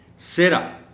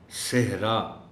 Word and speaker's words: صحرا: کو صحرا کی بجائے، صحرا میں دیکھیں ہے نمایاں کر کے بولی جا رہی ہے، لیکن بہت سے لوگ اس کو اس طرح بولتے ہیں سیرا۔ اب سیرا میں ہے نہیں بول رہی، درست تلفظ اس لفظ کا ہے صحرا، صحرا، صحرا۔ ارادہ، ارادہ الف کے